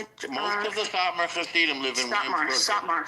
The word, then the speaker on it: Satmar: The Satar, is it called like the Satar? How do you say it? Most of the Satmar Hasidim live in Williamsburg. Satmar.